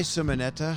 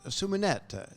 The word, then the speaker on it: Simonetta: very good with languages but it's a beautiful name suminet that's how they would say it right but that sounds like